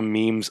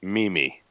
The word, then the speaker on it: meme: a memes I am when I first saw the term I pronounced this Mimi oh no yes I was one of those people it's like then I'll sit on my all meme sounds a lot cooler where you know